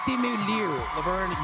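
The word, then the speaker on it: Simu Liu: thimu Le now did I say that right simu Le you nailed it and whatever you say my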